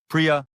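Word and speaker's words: प्रिय: This word in Sanskrit sounds like priya, and for some reason, it translates to love.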